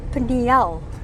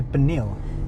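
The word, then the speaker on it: Pniël: the Narrow Street listen I heard yet another pronunciation of the little settlement pel yes I heard France in the church said pel and Reuben too pel and others say panal and you and I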